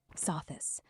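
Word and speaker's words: Sothis: So this saw this. That's the joke. It's not soft. It's so this.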